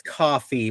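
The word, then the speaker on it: Ko-fi: youve now got the I still don't understand if it's Kofi or coffee whatever that yeah I I don't know apparently it's coffee but my won't read that and pronounce coffee so no that's not how those that's not how a dash works yeah Kofi yeah um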